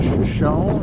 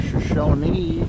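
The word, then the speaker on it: Shoshone: Hey guys, coming to you from the famous Crowbar Cafe and Saloon in Shoeshone or Shoeshone, California. I think the locals do pronounce it Shawnee.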